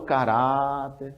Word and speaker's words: caráter: caráter veja que ela vamos vender a palavra na feira olha o caráter Então você percebe que a cra forte é essa essa é a cbra forte agora ela existe um